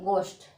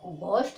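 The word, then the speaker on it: ghost: Okay, तो इसको क्या पढ़ेंगे, इसको पढ़ेंगे गोस्ट। क्या बोलेंगे, इसको घोस्ट नहीं बोलेंगे, क्या बोलेंगे, गोश्त।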